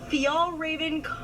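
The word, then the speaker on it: Fjällräven: Fial Raven Nailed it.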